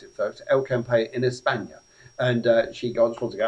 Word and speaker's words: El Campello: That's how you pronounce it, folks. El Campello in España.